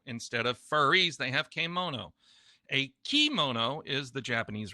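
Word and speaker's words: kemono: there is a kimono k mono not key mono k uh the e sound is usually pronounced as an a that's the japanese term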